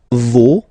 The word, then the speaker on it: vos: Vos, you don't pronounce it. Leur. Okay, so if we say that one more time, it's me, te, se, and then nos, vos, leur.